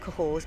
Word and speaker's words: Cahors: It's spelled Cahors, but you say Cahors apparently.